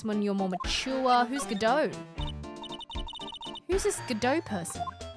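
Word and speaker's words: Godot: Gdau. His name is Gdau. The T is silent.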